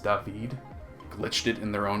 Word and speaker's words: David: It's pronounced David, glitched it in their own unique way, and put their own paint scheme on it?